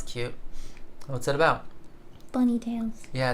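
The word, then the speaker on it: Thales: oh for goodness sake that's whales but with a silent T instead of a w of course Tails sorry it's what I said that wrong it's it's definitely whales it's taals spelled like whales it's not a th sound it's Tails okay anyways I can't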